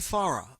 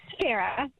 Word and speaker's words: Farah: pronounced your name correctly Dr far it's Farah okay if I wasn't close let me get it right what is how's the pronunciation it's Dr FY Farah FY Farah okay fine okay I made it a soft a it's a far Farah okay you're pretty you're